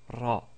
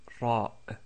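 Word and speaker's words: راء: Nous avons vu la lettre Ra qui, comme nous l'avons dit, est comme si un R roulé, comme c'est prononcé en italien ou en espagnol. Donc c'est Ra, Ra.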